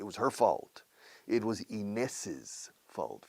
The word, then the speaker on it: Inés's: It was Inés's fault. Fíjate como apóstrofe S después de Inés, añade una sílaba.